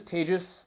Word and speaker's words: Tejas: uh my name is tejas that's pronounced like contagious i'm not contagious though